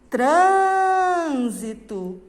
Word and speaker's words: trânsito: Você vai lá no portão e vai falar trânsito. Qual foi a palavra mais forte que saiu da sua boca? Foi o tran. Então significa que o tran é a sílaba forte.